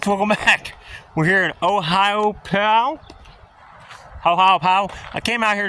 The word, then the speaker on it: Ohiopyle: I'm not Hopefully I'm saying it right. Ohiopyle, like you're punching something.